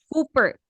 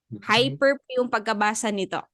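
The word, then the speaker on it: ὑπέρ: Epsilon and raw so usually think it's Cooper but if it is the first letter it is usually pronounced as Y in English so mag hyper okay hyper so when goes to the first letter I mean first syllable it sounds as why hyper in English so it's hyper okay next we have here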